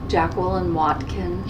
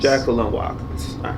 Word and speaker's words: Jacquelyn Watkins: uh state your name jackan Watkins Jacqueline Watkins sorry for mispronouncing that okay um so it